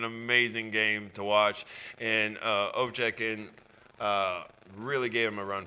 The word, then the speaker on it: Ovechkin: How do you pronounce it? Ovechkin.